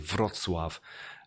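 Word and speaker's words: Wrocław: in in the beautiful city of fratsov in southwest poland which is the one spell it's looks like rock law with a w at the start i'm surprised anyone ever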